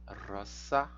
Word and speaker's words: rosa: Então aqui nós temos aqui a declinação de rosa, roça, não é Z, também é roça, roçai, tá? É um pouco complicado, né? A gente tem que abrir mão aí da nossa pronúncia em língua portuguesa.